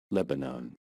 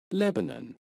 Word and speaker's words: Lebanon: go about pronouncing it in American English Lebanon Lebanon and in British English Lebanon Lebanon I hope this